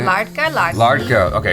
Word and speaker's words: Ladka: Ladka. Okay, it's the R sound. Yeah. The fake R sound.